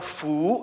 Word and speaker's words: 福: it means berkat It means rahmat Tuhan berkat bacanya Fu ayo apa fu fu artinya berkat So it